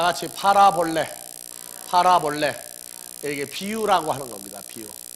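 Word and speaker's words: παραβολή: 여기에서 헬라어에서 다같이 파라볼레, 사볼레, 파라볼레가 아닙니다. 파라볼레. 그래서 이건 합성어예요. 그래서 파라 더하기 발로 필름 한번 비춰보고요. 비유라고 하는 단어. 예. 아니, 먼저 콩코단스를 먼저 비추라. 예. 그래서 다 같이 파라볼레.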